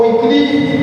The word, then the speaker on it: Wycliffe: Mas um pouquinho antes dela, haviam aqueles precursores da reforma, John Wycliffe, ou Wycliffe, como quem sabe inglês sabe pronunciar, John Hus, ou Ian Hus, na linguagem de alguns, que foram precursores da reforma.